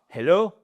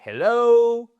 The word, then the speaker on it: hello: C'est pas hello, c'est hello. Alr the stress is on the second syllable.